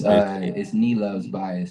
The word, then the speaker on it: Nilov's Bias: It's Nilov's Bias. Northeast Loves Bias. Nilov Bias. Yes. Any loves, so like Northeast, right?